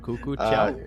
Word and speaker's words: Cuckoo Chow: How do you pronounce that? Cuckoo Chow? Yeah, that's correct.